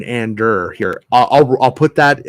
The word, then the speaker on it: Andor: but uh yep uh and or uh you mean Ander here I'll I'll put